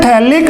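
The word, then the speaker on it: phthalic: थैलिक acid, अपन बात करें बेटा थैलिक की, थैलिक फॉर थैले, पीएच क्या रहेगा यहाँ पे? साइलेंट रहता है, तो इसको बोलते हैं थैलिक अम्ल, थैलिक एसिड।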